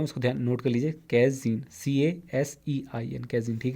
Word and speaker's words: casein: देखिए अगला जो है मैक्सिमम 22वां क्वेश्चन था cow milk protein is called, इसको क्या कहते हैं, कैजीन, स्पेलिंग बता देता हूँ, उसको ध्यान नोट कर लीजिए, कैजीन, CASEIN, कैजीन, ठीक है।